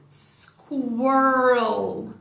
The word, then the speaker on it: squirrel: Então, recapitulando, squirrel, squirrel, squirrel. Repara que a gente junta esse com o a aqui, né? Então fica r também.